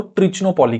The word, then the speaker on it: तिरुचिरापल्ली: बोला नहीं जाता था वो इसको त्रिचो पोली कहते थे ठीक है ओबवियसली तिरुचिरापल्ली नॉर्थ इंडियंस के लिए भी थोड़ा बोलना डिफिकल्ट है देखिए आई इवन डोंट नो कि मैं ठीक से प्रोनाउंस कर रहा हूं या नहीं अंग्रेजों की प्रोनंसिएशन से कहर मेरी प्र प्रोनंसिएशन बेटर है तो त्रिचो पोली जैसा अंग्रेज बोलते थे इनको आप वैसे भी बोल सकते हो ठीक है अब कर्नाटिक